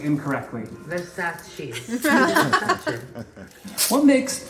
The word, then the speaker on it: Versace: Versace. Versace. What makes Versace unique?